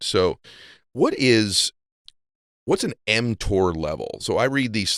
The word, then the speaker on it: mTOR: I heard you talk about before yeah you're pronouncing it correctly it's called mtor okay m stands for Mamon okay and Tor